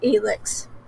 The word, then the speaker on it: Elix: he just turned 18 his name's elix he pronounced it like alex why does this character